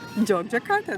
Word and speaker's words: Yogyakarta: Yogyakarta. Jogjakarta, there you go. There we go. Jogjakarta, you write it with Y, but you pronounce with J.